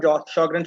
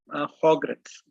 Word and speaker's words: Sjögren: So a bit about Sjogren syndrome. We call it Sjogren, we call it Sjogren, but actual Swedish pronunciation is Sjögrens. They pronounce it as a Ho.